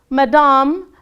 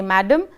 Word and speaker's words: madame: Madame Gaultier's hand is not for everyone to kiss. So in French, they don't say madame, they say it as madame.